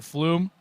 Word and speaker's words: Flume: I got to remember Flume rhymes with broom thank you whoever that